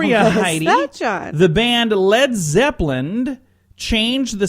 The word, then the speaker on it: Led Zeppelin: Led Zeppelin you know why they changed it to just led why because they had dumb radio announcers pronouncing it wrong coming up now we've got leaves Evelyn they're like no we're not lead Zeppelin the whole point of